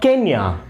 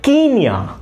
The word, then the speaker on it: Kenya: please pronounce Kenya now remember Kenya is the only country in the world which has not altered its name or changed its name rather it changed its pronunciation so you need to say not Kenya you have to say Kenya so we have desk